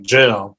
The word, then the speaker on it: jail: And whenever they would say the word jail, they would pronounce it like gel, like you put in your hair or jello.